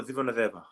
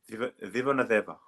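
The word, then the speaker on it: Civoniceva: Zivonadeva. Vivonedeva. Yeah. So Ah, true. so in like the Fijian spellings, like we pronounce like our C's as like kind of like TH.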